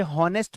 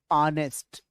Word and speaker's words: honest: ध्यान रखना ये हॉनेस्ट मत पढ़ना, ठीक है? ये एच साइलेंट है, इसे पढ़ना ऑनेस्ट, ऑनेस्ट। Well to बी ऑनेस्ट with you, हॉनेस्ट कोई मत पढ़ना, ऑनेस्ट पढ़ते हैं इसे, ठीक है?